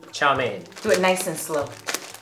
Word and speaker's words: chow mein: Last question: how do you pronounce chow mein? Do it nice and slow. Chow mein.